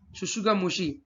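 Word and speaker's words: tsutsugamushi: The causative agent of scrub typhus is Orencia shushugamushi. T is silent over here, which was discovered in Japan.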